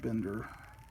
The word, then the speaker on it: Binder: auto bender or binder i used to pronounce it binder but i hear a lot of people pronouncing it bender okay they're reviewing current